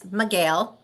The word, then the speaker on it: Micheel: It's Micheel. Looks like Michael with two E's.